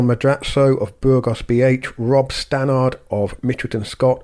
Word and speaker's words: Stannard: of burgos bh rob stanard of mitchelton scott or stannard i think is the australian pronunciation um i'll say both